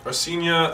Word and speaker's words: Arsenia: My name is Arsenia. Or Arsenia, I think it's three syllables.